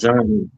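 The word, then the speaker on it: Jean: If it was in Haiti, it would have been pronounced John. Like Gene is pronounced John. Yeah, but you got to go with the flow. Yeah, Wyclef Gene.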